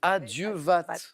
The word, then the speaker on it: à Dieu vat: Alors, l'expression empruntée aux marins, avec un T final qui se prononce, à Dieu vat.